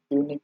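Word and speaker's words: unique: তো এ হয়ে যাবে এর আনসার, কারণ অ্যান ইউনিক হবে না, কারণ ওই ইউনিভার্সিটি, তারপর ইউনিক, এগুলো ইউ এর উচ্চারণ ইউ এর মতো বলেই এ হচ্ছে, অ্যান হচ্ছে না, ঠিক আছে, মানে বাবেল আবার সত্য।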